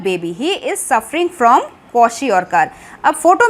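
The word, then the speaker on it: kwashiorkor: सी the spelling KWA क्वा SHI शी OR और KAR कार क्वाशियोरकर। The deficiency of proteins in the diet of small children specially causes a disease called क्वाशियोरकर।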